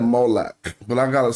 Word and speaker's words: Molech: Molech. All right, so let him go back. Hold on. I didn't say Mullet. I said Molech.